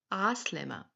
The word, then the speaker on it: Aslema: it's not hala, it's ah slema. Ah slema is the most common way. Or ahla. Repeat after me. Ah slema. Ah slema. If you cannot pronounce the ah letter, no worries.